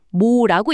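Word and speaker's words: mho: 모는 모라고 읽습니다.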